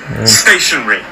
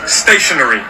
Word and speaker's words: stationary: እንታይ ፍልል የን stationary three syllables the stress falls on the first so it's stationary you may stationary. Also hear some people pronounce it with four as stationary but personally I say